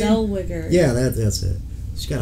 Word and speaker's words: Zellweger: Zellweger. Yeah, that's it. She's got a hard name to pronounce.